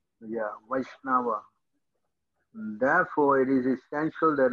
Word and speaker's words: Vaishnava: one of krishna this is called vaishnava the pronunciation yeah vaishnava therefore it is essential that a vaisnava will